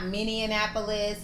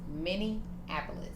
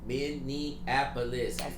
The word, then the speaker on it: Minneapolis: Not Minian Annapolis and all that stuff that everybody be talking they cannot. It's like, why y'all saying so many syllables, dog? Too many letters. It's Minapolis.